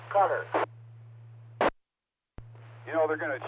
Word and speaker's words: Qatar: They weren't sure how to pronounce it, Qatar or whatever, but Wolf Blitzer said it's pronounced cutter.